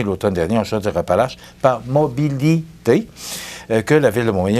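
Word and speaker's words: Mobili-T: C'était pas ça, on dit mobilité, là, mais ça s'écrit de cette façon-là.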